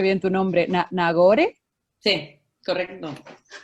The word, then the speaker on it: Nagore: todo lo que hablo hoy no sé si pronuncio bien tu nombre nagore correcto y es es y mucho ustedes me